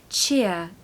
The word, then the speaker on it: cheer: you up pronunciation tip don't pronounce the r of course it's more like a yes sound so cheer it's actually a bit